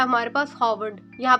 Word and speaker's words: Harvard: Number four पे है हमारे पास हॉवर्ड। यहां पे परेशान ना होइएगा मेरे बच्चों। यहां पे यह जो आर है यह साइलेंट है। इट इज़ नॉट हारवर्ड। इट इज़ हावर्ड।